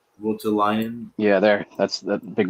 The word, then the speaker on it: Voutilainen: Vultulainen. Voutilainen. Yeah, there. That's the big bucks. It sounds like botulinum, like botulism, Botox, botulinum Okay. rhymes with Votulinum.